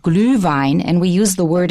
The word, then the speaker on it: Glühwein: It's called Glühwein, and we use the word in English. Just in case you're interested, it's spelled capital G-L, U with 2 dots, umlaut,